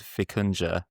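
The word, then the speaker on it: Vikunja: I found an open-source one called Fikuna. Um, so it's it's spelled V I K U N J A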